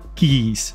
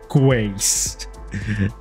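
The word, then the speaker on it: quays: mentioning like oh yeah you're supposed to pronounce it like keys not qu so if I ever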